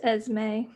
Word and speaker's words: Esme: that is why yeah it's esme yes me so this is what